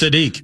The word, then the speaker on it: Sadiq: How do you pronounce Sadique?